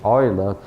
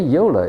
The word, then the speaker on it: Euler: ground equations some people told me that the Oilers should be pronounced as the Euler okay Yola is the English pronunciation but oil is more